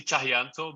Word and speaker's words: Tjahjanto: It's actually Tjahjanto, but like I know like it's always get people tongue tied. So Tjahjanto sounds pretty fucking cool. What's actually funny is that's pretty much how I've pronounced it.